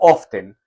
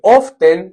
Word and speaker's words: often: Alejo dice, ¿es often o often? Se escribe often, se pronuncia often. Se pronuncia sin la T.